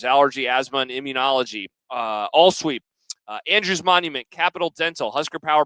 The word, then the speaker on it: Andrews: We appreciate our community sponsors, Allergy, Asthma, and Immunology, AllSweep, Andrews Monument, Capital Dental, Husker Power Products, the Anderson Oh, Monument. it's Andrews, Jack. You keep saying it wrong. It's Anderson. It's Andrews. Look, it's Andrews.